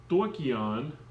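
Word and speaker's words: στοιχεῖον: It's stoichion, and I guess is how you pronounce that, which means element.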